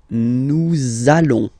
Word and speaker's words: nous allons: it does mean that you will have to pronounce this z sound, okay? Listen to me. Nous allons.